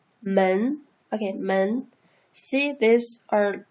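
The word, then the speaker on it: 门: a door it's a door see door is pronounced as men men okay men see this are like the frames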